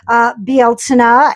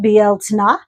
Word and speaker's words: Bealtaine: Bealtaine is the Celtic or Gaelic, pronunciation, Bealtaine, if you want to call it by its proper name.